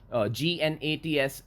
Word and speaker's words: gnats: GNATS, G is silent, gnats are insects.